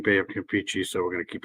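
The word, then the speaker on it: Bay of Campeche: at the Baya campi here I say Baya Camp pichy I think it's actually pronounced Bay of keei but I've always been saying Bay of cichi so we're going to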